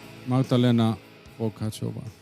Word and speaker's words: Magdalena Vokáčová: Welcome, Magdalena Vokáčová.